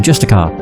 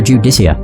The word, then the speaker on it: Justicar: The Justicar. Yeah, that's how you say it. I don't know why, I kept wanting to call her a Judicia.